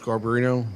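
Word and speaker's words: Garbarino: sworn now just State your full name and spell it please garberino g-a-r-b-a-r-i-n-o yes I'm sure if we can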